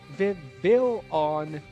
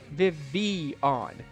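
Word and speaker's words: Vivillon: And so, and just to just to be sure that we're clear, it is it is Viv Villon, not Vivon. I am so tired of seeing people pronounce it this thing Vivian.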